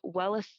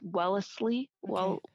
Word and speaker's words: Wellesley: of the year in 1977 she received uh welles sorry i think i said the college name wrong last time it's wellesley there's too many owls that college alumni achievement